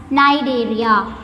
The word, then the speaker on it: Cnidaria: Here the first letter C is somewhat silent, so we have to pronounce it as Cnidaria.